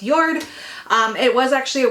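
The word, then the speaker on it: Jord: sale i sold a yard watch it's spelled j-o-r-d but i believe it's pronounced yard um it was actually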